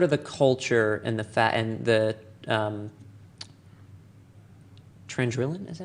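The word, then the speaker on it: Chandrila: Scarif, or sort of the culture and the Trandrillan, is that how you say it? Chandrilla.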